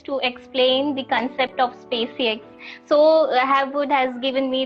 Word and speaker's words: Spaciux: Okay, so it's SpaceX. I know. How to pronounce it. So it's SpaceX.